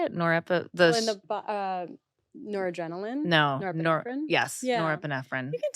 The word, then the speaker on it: norepinephrine: Norepinephrine?